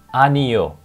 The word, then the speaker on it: 아니요: For no, you say it 아니요. It's very syllable, 아니요. Not very difficult, right? 아니요. Or if you say it faster, you can say just 아니요. 아니요. Like in Spanish, like ear, one ear, 아니요.